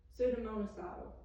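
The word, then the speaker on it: pseudomonacidal: Hospital level disinfectants are suda mono sodom bacteriaidal funidal and viridal sudamonocidal is how you say that.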